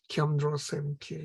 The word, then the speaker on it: Kyamdro Semkye: Kyamdro Semkye. Yeah? The B is not pronounced. Instead, we insert an N here, N or M.